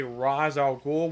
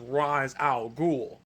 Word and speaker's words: Ra's al Ghul: Though there are some others, there are some people that would say Ra's al Ghul, which is actually, that's how it's originally pronounced. It's pronounced Ra's al Ghul.